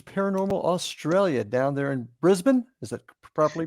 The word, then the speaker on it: Brisbane: I'm here with Dan Ricard from Night Watchers Paranormal Australia down there in Brisbane. Is that properly pronounced? Yeah, Brisbane.